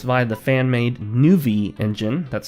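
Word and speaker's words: Nuvie: version I'm playing Ultima 6 via the fan-made new V engine that's spelled in UV ie which is a front-end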